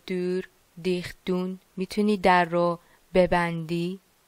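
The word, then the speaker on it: deur: کلمه بعدی د دور، د دور. یه ذره شاید تلفظش سخت باشه ولی او کنار هم دیگه دور، ایو ایو تلفظ میشن.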